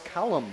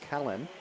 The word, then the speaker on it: Kalen: I thought it was Callum with an M at the end. It was Kalen.